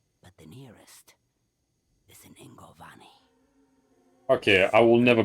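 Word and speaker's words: Yngovani: the nearest is in Ingovani. Okay, I will never pronounce that correctly. Kept in the temple there. Starts with a Y, but they pronounce it with an I.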